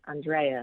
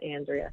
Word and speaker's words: Andrea: Yes, it was very, very important to say it correctly, Andrea, not Andrea.